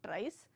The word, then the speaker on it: trie: let's look at tries it's uh it's pronounced as tries I'll tell you why